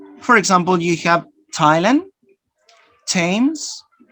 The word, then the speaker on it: Thailand: thought that those but there are some cases like this that you produce the santa thailand thames the river no and thomas the name of the person let's fast to the